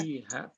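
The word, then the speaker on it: فيها: Fiha. Jadi kalau dilatih pengucapannya menjadi pakai huruf F, ya, F. Bukan pakai P, tapi F.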